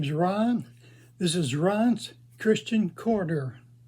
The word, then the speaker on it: Ron: And I said, no, R-O-N, Ron. But I pronounced it because I had a problem with R's, with S-S-S-H, and T's.